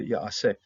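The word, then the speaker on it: יַעֲשֶׂה: And so we're going to be pronouncing all the syllables of this particular verb here. Ya'aseh, Yehovah. And in the previous Katif Kare that we saw of this particular verb, they just dropped the pointing off that second syllable.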